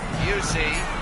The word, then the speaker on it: Busey: Fairweather again to Busey to Drew, like Gary Busey. Remember him, it's the same pronunciation. Busey.